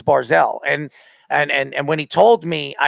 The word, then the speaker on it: Barzal: He doesn't even say his name right. He says Barzal. It's Barzal. I mean, that's how he pronounces his name, Barzal. Barzal. No, it's Barzal.